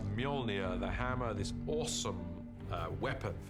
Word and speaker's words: Mjolnir: The first challenge with a hammer is to work out how to pronounce it, which is Mjolnir in our movie at the moment. Until somebody corrects me, I'm sure they will. Mjolnir, the hammer, this awesome weapon for Thor, extraordinarily powerful.